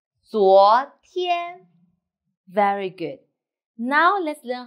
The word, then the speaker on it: 昨天: The word of the day is 昨天. I will teach you how to pronounce it, how to write it, and how to use it.